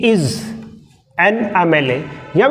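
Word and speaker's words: MLA: Article use हुआ है क्योंकि इसका प्रोनाउंसिएशन एम से ए से चालू हो रहा है, एम एल ए, एम ए।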